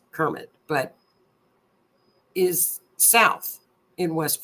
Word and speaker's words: Kermit: I call it Kemet because people down there pronounce it Kemet, but it's Kermit.